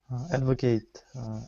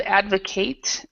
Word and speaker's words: advocate: yes growth hormone perfect okay and um Sasha Advocate a supporter okay and as far as pronunciation goes for that word um Sasha we would say instead of advocate uh we say Advocate now this word also